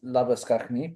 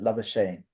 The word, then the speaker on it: Labuschagne: His brother is Manus Lapiskachny, but the Australians pronounce it Labuschagne.